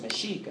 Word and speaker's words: Mexico: word of the indigenous the word mexico was pronounced meshika and the meshika were people of the region